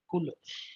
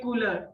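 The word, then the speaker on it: couleur: Remains the Same cooler it's like cooler right yeah cooler okay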